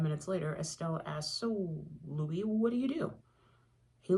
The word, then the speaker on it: Louis: "Before we go any further, my name is Louis, spelled like the city in Missouri, but spoken in the French way."